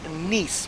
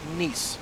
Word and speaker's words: Nice: But, uh, it is pronounced nice with an N. Nie. Um, kind of like niece and a nephew.